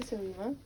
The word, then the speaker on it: Selima: your name yeah of course okay so I'm salima so could you say could you spell that for me so I don't make any